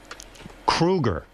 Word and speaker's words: Kruger: And, you know, your last name is Kruger. Thank you. I don't know if you pronouncing it wrong. That's how you say it.